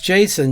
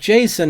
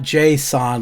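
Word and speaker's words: JSON: It said, that's why I pronounce Jason, J-S-O-N, like Jason and not Jason like most people do.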